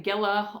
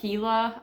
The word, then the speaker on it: Gila: that is the uh giant I was saying Gilla on the last EP or last episode last video when I was talking about watching this but it's actually pronounced a heila believe um I'm not the brightest but yeah